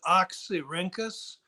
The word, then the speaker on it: Oxyrhynchus: And forgive me, Oxyrhynchus. That's very close. Yeah, we usually pronounce it Oxyrhynchus.